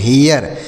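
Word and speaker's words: hair: पहला क्या होता है एच ए आई आर तो इसे पढ़ते हैं हियर एच ए आई आर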